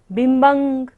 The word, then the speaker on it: बिम्बं: निशेष निर्जित जगत त्रितयोपमानम्, बिम्बं, ब के ऊपर बिंदी और बाद में क्या है, क वर्ग है, तो बिंदी का उच्चारण क्या होगा, अंग की तरह।